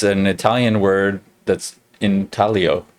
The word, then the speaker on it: intaglio: it i was saying intaglio but apparently it's an italian word that's in talio like the g is silent in italian and so it's not